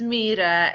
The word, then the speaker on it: Myhre: It's very tricky. It's Myhre. It's Norwegian. It's difficult. Okay, Myhre. I should have asked you that before we started recording. Oh, that's okay. Myhre.